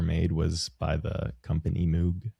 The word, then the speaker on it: Moog: It's the first synthesizer ever made was by the company Moog. It's actually pronounced Moog, I think, but Moog is a cute cat name.